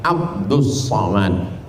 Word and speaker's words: Abdul Somad: awak yang salah baca tulisannya Abdul Somad tapi membacanya adalah ABD Somad ah jadi nama ini